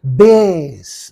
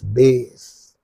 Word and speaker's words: bass: the the next one that's a base Bas lowest fale singing voice is called Bas uh something that comes from the from the bottom of the throat soar how do you say oh so that comes from the bottom of your throat that is called base base see the foric transcription base okay here same spelling